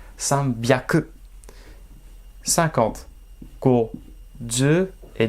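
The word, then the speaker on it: 三百: San, hyaku, eh ben non. Prononciation exceptionnelle. Sanbyaku.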